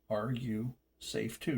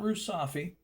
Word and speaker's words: Are You Safe Too: Hence, are you safe too? Not Rusafi. The name of the channel is pronounced Are You Safe Too?